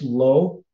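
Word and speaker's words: לא: And that word there, just lo, is how it's pronounced in Hebrew, just means not or no, right?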